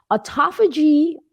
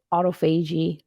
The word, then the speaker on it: autophagy: Autophagy, or some people pronounces it autophagy. I'm going to pronounce it autophagy.